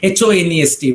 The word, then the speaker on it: honest: a few examples right h o n e s t where the letter h is silent okay we pronounce it